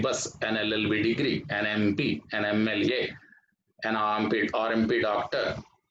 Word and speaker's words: MP: An MP. An MP. How do you pronounce this word MP? M. A. It begins with the vowel sound A.